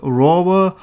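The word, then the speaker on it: RVR: On February 19, 2019, Sphero announced a programmable tank tracker kit called Sphero PVR, pronounced rover, on Kickstarter.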